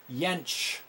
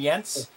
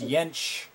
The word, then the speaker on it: Jentzsch: Jentzsch. With a sh at the end. Okay, so I was saying Jentzsch, but it's Jentzsch.